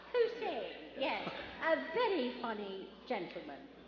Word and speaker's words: Posehn: Posehn, yes.